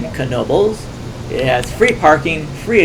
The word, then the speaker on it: Knoebels: You actually pronounce the k in Knoebel's it has free parking